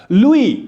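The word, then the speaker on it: Louis: लिखा लुइस है, जिसको हम लुइस आमतौर पर पढ़ते हैं, लेकिन इसको लुइस नहीं पढ़ना है, इसको लुई पढ़ना है। ये फ्रेंच वर्ड है, इसमें एस जो होता है ये हमेशा साइलेंट होता है।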